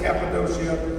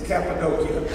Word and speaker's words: Cappadocia: No, I said it right. You always say Cappadocia. It's Cappadocia. I went there, and that's how they told me to say it.